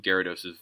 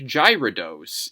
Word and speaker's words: Gyarados: And the other thing is, like, it's unintuitive to spell. It's Gyarados. Like, if you see it, you would think Gyarados. If you had to spell it, you would probably go Garados.